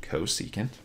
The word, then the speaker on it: cosecant: So we have cosecant, labeled CSC for short, but pronounced cosecant, is the reciprocal of sine, 1 over sine.